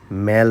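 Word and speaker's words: Mall: এখানে যাওয়ার আগে অনেকগুলো ভিডিও দেখে গেছি এবং সবাই এই জায়গাটাকে মেল রোড বলে। মেল বানানটা এম এ ডবল এল। আমরা যেটাকে মল বলি এবং আমি ডিকশনারি চেক করে দেখলাম এটার উচ্চারণ মল। মেল নয়।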